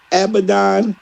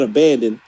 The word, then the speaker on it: Abaddon: Yes, Abaddon, who I've been calling Abandon, was on Rampage.